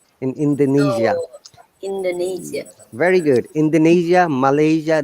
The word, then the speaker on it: Indonesia: from indonesia another sound it is not indonesia i this s sounds like zed in indonesia indonesia very good indonesia